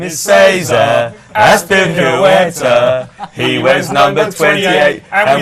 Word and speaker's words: Azpilicueta: His name is Cesar Azpilicueta.